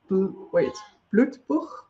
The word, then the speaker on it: Blutbuch: I'm going to try to get a bit further into Blutbuch. I'm pronouncing that in a German way, and I don't know whether that's intentional or not in the first print, but I will switch it.